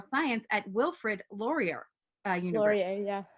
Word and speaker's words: Laurier: Laurier, yeah. Laurier. Pronunciation is not my thing.